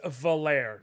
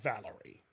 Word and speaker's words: Valere: It is Zale, Garl, we knew those, but it is Valere, not Valerie.